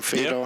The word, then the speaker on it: Fedor: Is that how you pronounce his name, Fedor?